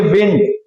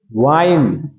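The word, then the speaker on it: wind: है डब् आई एंडडी इसको बोलेंगे विंड इसको बोलेंगे वाइंड विंड और वाइंड में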